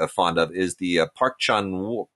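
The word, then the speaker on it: Park Chan-wook: of is the uh park chan wook or park chun uk i'm told is the correct pronunciation this film jsa for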